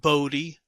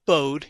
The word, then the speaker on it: Bode: hendrick wade bode and it is pronounced bodhi not bowed it is a bodhiplot